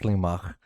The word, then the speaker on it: Slimak: It's actually pronounced Slimak, but who the fuck talks like that?